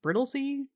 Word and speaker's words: Brightlingsea: They meet Lord and Lady Brittley, spelled Brightling Sea but pronounced Brittley, and discover Kena has been struggling to fit in, unhappy with her new life among the stuffy London elites.